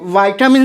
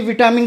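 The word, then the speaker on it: vitamin: बोलने लगे कि नहीं विटामिन गलत है। एक्चुअली विटामिन गलत नहीं है, विटामिन जो है ब्रिटिश इंग्लिश प्रोनाउंसिएशन है, और अमेरिकन में इसी को वाइटामिन बोलते हैं।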